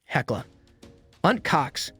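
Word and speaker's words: Heckler & Koch: HK or Asian K German pronunciation heckla UNT Cox makes rifles handguns submachine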